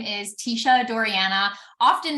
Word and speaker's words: Teisha: me on your podcast so my name is Tisha doriana often mispronounced just because of how it's spelled um